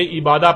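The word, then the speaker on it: عبادة: لکھا جاتا ہے عبادہ، اور جب عربی لہجے میں اس لفظ کو پڑھا جاتا ہے تو تیز ساکت ہو کر ہے کی آواز میں بدل جاتی ہے، یعنی اسے عبادہ پڑھا یا بولا جائے گا۔ عربی کا لفظ عبادہ جب اردو میں شامل ہوا تو اسے عربی کی بجائے اردو لہجے میں تے کے ساتھ بولا گیا اور بولا جاتا ہے، یعنی عبادت۔ اب آتے ہیں اس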